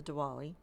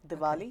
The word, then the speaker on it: Diwali: Now you mentioned the Diwali. Did I pronounce that right? Diwali, yeah.